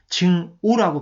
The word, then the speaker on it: 증오: 그래서 나중에는 증오라고 발음됩니다. 악이 아니라 발음이 오로 바뀌었습니다.